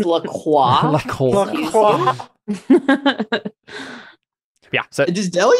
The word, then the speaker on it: LaCroix: It's pronounced LaCroix.